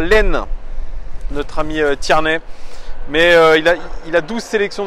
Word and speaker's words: Tierney: Yes, I think it's the right word, right pronunciation. Tierney.